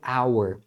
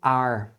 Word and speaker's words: our: meio de uma frase muitas vezes eles não vão pronunciar a palavra bem pronunciada como our você vai escutar como are Então você vai escutar This is our House This is our House Então você escuta como are OK então o our